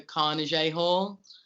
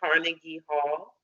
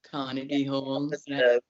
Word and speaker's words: Carnegie Hall: videos you playing at the Carnes Hall I think that's how you say it yeah that's okay Carnegie Hall Carnegie Hall that was an amazing